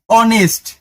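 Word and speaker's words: honest: দেখো এইটা এইচ ও এনই এসটি উচ্চারণ হওয়া উচিত ছিল কি? এইচ ও হ অনেস্ট। কিন্তু না। এটার উচ্চারণ হচ্ছে অনেস্ট। এইচটা হ এর মত উচ্চারিত না হয়ে একটু ঘাড়তেরামি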